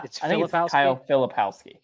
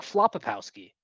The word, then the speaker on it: Filipowski: ran into Kyle fli is that how you pronounce his name I don't want to go this whole time without I mean I think I think yeah filipowski okay okay because I was saying flowski because that's the other part